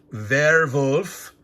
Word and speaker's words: Werwolf: So it's an unboxing, but it's an exploration of Werwolf, is the German pronunciation, werewolf.